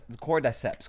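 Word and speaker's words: Cordyceps: And it's pronounced the cord cordiceps.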